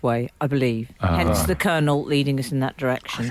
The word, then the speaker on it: colonel: and narrow kind regards the colonel pronounced Colonel is she an actual